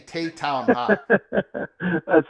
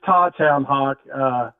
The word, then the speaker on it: Tawtown Hawk: I've been saying Taytown Hawk. Thanks for asking. Actually, it's Tawtown Hawk.